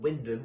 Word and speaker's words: Wymondham: Yeah, it was for a scout group out in Windham, or Wymondham as it's spelt here in Norfolk.